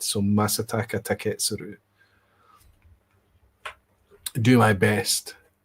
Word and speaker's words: Masataka Taketsuru: I used to say masataka taketssuru but I remember a Japanese speaker saying there are no there are no accents. There are no uh pronounced everything is is continuous is flat.